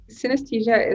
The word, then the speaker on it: synesthesia: In your work, you talk about synesthesia.